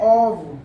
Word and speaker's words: of: एक वर्ड है OF, देखिए इसको ऑफ नहीं पढ़ते हैं, OF को, OF को पढ़ते हैं OV। इसके 3 प्रोनाउंसिएशंस होते हैं, OV, AV, AV।